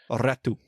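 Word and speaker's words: Räty: That's how you pronounce it. He says Ratu? Yeah, well, according to Yoki, yeah, it's Ratu.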